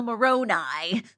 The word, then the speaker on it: Moroni: The angel Moroni.